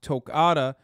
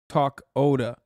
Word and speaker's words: Tokata: he said it wrong heads up that tokata iron eyes is pronounced tocata not talk oda okay like they they